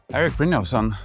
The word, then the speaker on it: Erik Brynjolfsson: Cheers, Eric Bosson.